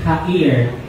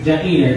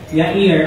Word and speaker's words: Jair: At ang susunod na papalit po kay Gideon ay si Tola at si Hair or Jair. Pero sabi nila Yair ang pag-pronounce dito parang Yahwe. So Yair ayan.